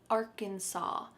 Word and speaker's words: Arkansas: There is an S at the end, but we pronounce it Arkansas.